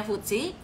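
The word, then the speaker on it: FTSE: quarterly review futsi itu futsi ditulisnya ftsi Tapi bacanya futsi eh the financial stock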